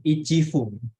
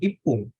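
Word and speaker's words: 一分: sananya seperti itu lebih mudah pelafalannya itu dibanding ichifung kan kita lebih mudah bilang Ipung daripada ichifung kelihatannya seperti itu jadi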